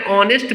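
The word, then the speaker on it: honest: तो ही इज एन ऑनेस्ट person में ऑनेस्ट के पहले एन का यूज हुआ है क्योंकि एच साइलेंट है और जो साउंड आ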